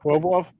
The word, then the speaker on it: Provorov: I can't get his name out, but Provorov, thank you.